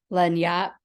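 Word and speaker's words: lagniappe: Dan Chavez so um Len Yap um is so according to Dan who was nice to chat me um privately to correct me um he said it's pronounced as a French word Len Yap is a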